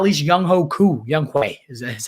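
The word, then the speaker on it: Younghoe Koo: out of hand there last but not least young hoku is that's how you pronounce it he gutted it out for week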